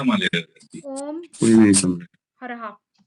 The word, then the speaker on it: ह्राः: हरहा, ये मंत्र है पद्म पुराण में।